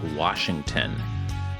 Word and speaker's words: Washington: getting pedantic about pronunciation there is no R in Washington just remember well clet